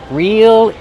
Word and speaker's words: reel: Reel in the fish. It's a phrasal verb. Real, like if something's real, it's not fake. It's the same pronunciation. Use a long E sound. Real. Then the dark L.